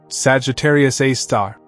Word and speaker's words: Sagittarius A*: It's known as Sagittarius A*, pronounced Sagittarius A star, and it sits about 26,000 light-years from Earth, in the constellation Sagittarius.